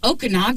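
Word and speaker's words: Okinawa: me finally looking at you like, you mean Okanawa?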